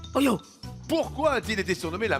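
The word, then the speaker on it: Häyhä: Soldat considéré comme étant le meilleur tireur d'élite de toute l'histoire s'appelait Simo Hoyo. Je le prononce comme ça. Ça s'écrit H A Trema Yhema. Je dis Oho.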